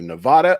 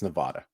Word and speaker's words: Nevada: This is a debatable, but I think it's Nevada. That's how I hear most of the locals say it.